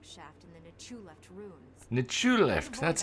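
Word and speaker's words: Nchuleft: Nichuleft, that's how you pronounce it.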